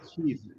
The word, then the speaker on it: Keith: They don't know how to say Keith. They go Keef. Kef. They say ke ef.